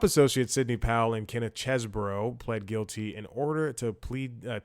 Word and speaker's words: Chesebro: Kenneth Chesebro, because people have been pronouncing it Cheeseboro, it's like a cheeseburger type thing, and Sidney Powell, which